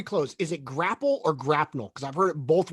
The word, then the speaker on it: grapnel: I always thought it was grapnel with the L. Because Yeah. in Beware the Batman, there's a specific scene where he says it's grapnel. It's pronounced grapnel.